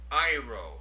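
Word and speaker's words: αἴρω: The third word, we have a smooth breathing and an accent over the first syllable. Iro, I take up or I take away.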